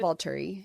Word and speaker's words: Volturi: That's by going to the Volturi or whatever, however you pronounce it. Volturi, yeah.